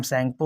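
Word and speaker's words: Tsangpo: China में originate होता है, वहाँ पे इसका नाम सैंगपो होता है, टी साइलेंट होता है, टी सैंगपो लिखा जाता है, TSNGPO।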